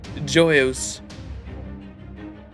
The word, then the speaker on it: Joyeuse: I feel like the J is definitely like a Y, right? Yo Yessi? Yo. Joyeuse. Joyeuse. Joyeuse? Easy, but French.